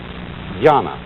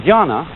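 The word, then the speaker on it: jñāna: And this, in turn, is the Chinese way of pronouncing an Indian Sanskrit word, jnana. And jnana refers to the kind of experience which has been represented in this circle.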